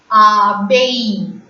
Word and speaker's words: abeille: A again is pronounced as A. E-I-L-L-E is pronounced as A. In the pronunciation of variations rule, I have explained this letter. E-I-L-L-E in French is pronounced as A. So, A-B-E-I-L-L-E is abeille in French.